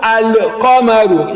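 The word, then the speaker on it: القمر: If you want to pronounce ashamsu, but qamaru, al-qamaru, you can see the lam comes out in al-qamaru, al-qamaru, la-mul qamariyya.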